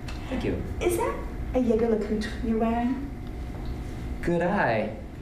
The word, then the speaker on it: Jaeger-LeCoultre: Is that a Jaeger-LeCoultre you're wearing? Good eye. And proper French pronunciation. Wow, most people get that wrong. Yeah, well, I love men's watches. Sort of a hobby. Is that a Jaeger-LeCoultre you're wearing?